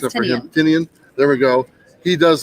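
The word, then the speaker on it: Tynion: And James Tinian or Tinian, nobody pronounces it right think it's except for him. Tinian.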